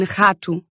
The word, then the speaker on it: rato: So you'll hear that uvular R sound at the beginnings of words. As in rato.